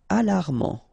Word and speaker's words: alarmant: Alarmant. Final T not pronounced.